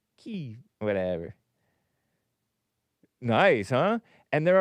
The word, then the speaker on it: Kyiv: Now it's K-Y-I-V, which is the Ukrainian preferred pronunciation because of politics. Because they feel sorry for the Ukrainians, which I do too, you know. I'm a little liberal. Instead of Kiev in Russian, it's Kyiv or Kyiv in Ukrainian with the softer V sound.